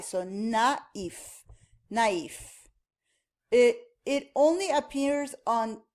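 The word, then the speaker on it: naïf: So if the was not there, you could pronounce it as nef. And we're going to see that in a different unit. But in this case, it separates the pronunciation of a and i.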